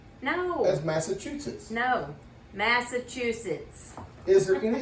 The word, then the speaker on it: Massachusetts: or a massachus a massachusett that's a mouthful too goodness gracious okay so guys real quick Massachusetts you said it wrong Massachusetts Metts okay has almost 200